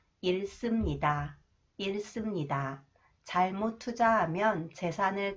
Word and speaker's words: 잃습니다: When the final consonant 리을 히읗 is followed by 시옷, should is pronounced s sound. 잃습니다.